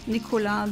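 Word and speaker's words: Nicolas: Grandad his name was Nicola Nicholas but with a s Nicola the uh the S is not pronounced in French he wasn't French by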